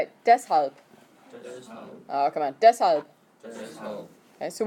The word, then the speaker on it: Deshalb: Deshalb. Okay, so when you pronounce it, it's not de-schalb. The SH has to have that C in the middle in order for it to be a sh sound.